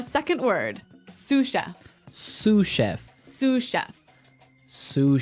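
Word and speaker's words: sous: word susha sush Chef suf suf s o u s so the S is silent because it's like a French word yeah something like that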